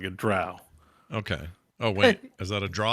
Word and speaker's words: drow: Drow. I'm pretty sure it's drow. I reversed myself. It's drow, not dro.